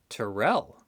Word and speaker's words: Terrell: Was Captain Terrell. Rhymes with the Drell.